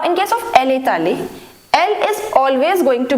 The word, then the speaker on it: allée: Now be very careful that the pronunciation is going to be same in all the cases. Je suis allé, tu es allé, il est allé, elle est allée. We are writing this e, but the pronunciation remains same, right?